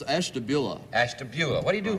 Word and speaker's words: Ashtabula: Hank Stein from Esther bruegger how do you say that it's Ashtabula Ashtabula what do you